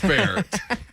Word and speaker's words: Bexar: ep is called pronounced bear so it clears it clears a lot up there but oh i thought i was just reading that wrong i'm like oh you know i know it's pronounced bear idiot but uh yeah